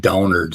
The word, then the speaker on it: Downard: But anyway, so yesterday in the debate with Cy and RJ, and his fucking name is pronounced Downard Sal.